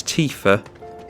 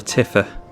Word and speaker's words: Tifa: opposed to hear them her name is T fur and that's teef his theme that we're hearing but I always called a tiffer which would be double life in all fairness so I was always pronouncing it incorrectly you made it where'd